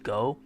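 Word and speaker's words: 五: way is 555 because the Japanese number five is literally pronounced go that's a nice pun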